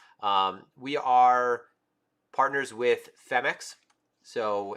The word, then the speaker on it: Phemex: and going surfing um we are partners with femix so it's actually pronounced femex okay and they actually have a competition that